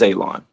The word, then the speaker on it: Elon: New Mishpacha, my name is Elon. Pronounced like you're going to cut grass. Like you're going to cut a lawn. It's not spelled that way, but it is pronounced that way.